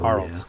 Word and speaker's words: Arles: Earls? 5th of July to 26th. Earls? Is it Earls? How do you spell it? A-R-L. Yeah. Arles.